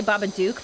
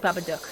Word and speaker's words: Babadook: lot of people say baba duke but it's actually babadook it's like the australian pronunciation or something like that because i think it's